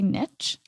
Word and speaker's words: niche: Americans say niche. Oh. But the etymology of the word, I believe, is French. And niche? Say niche. Like a niçoise salad?